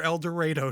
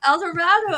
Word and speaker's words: El Dorado: Is the title of the new book El Dorado Drive or El Dredo Drive? El Dorado. I had not heard that. Is that a Kansas thing? That is only a Kansas thing strictly.